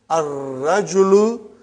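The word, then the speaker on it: الرجل: Next one is ar-rajulu waqifun. Before we said al-waladu waqifun or al-mudarrisu waqifun. Those are all moon letters. Now we have sun letter ar-rajulu waqifun.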